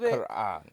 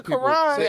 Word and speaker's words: Quran: The Quran.